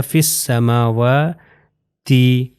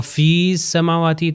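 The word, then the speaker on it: في السماوات: کے مل جائے گا، یہ ہو جائے گا فس سماواتی، فس سماواتی فس. اگر میں کہوں فی سماواتی تو یہ غلط ہو جائے گا، اس میں یہ کو تلفظ نہیں کرنا، اس میں پرولونگ نہیں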